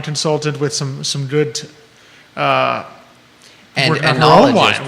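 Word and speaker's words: oenologist: Because the O was there to throw you off.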